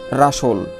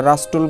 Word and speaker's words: rustle: তারপর দেখো RUSTLE রাসল, তোমরা রাস্টল বলবো না, কি হবে? রাসল। এই টি এর উচ্চারণ হবে না, অর্থ খসখস যে শব্দ।